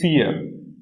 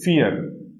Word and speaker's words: vier: And when I and E are together, the pronunciation is same as this, E.